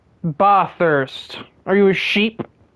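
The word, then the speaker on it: Bathurst: Ba thirst. Are you a sheep? Well, that's just how the track is pronounced. Everyone that's not Australian will say ba thirst.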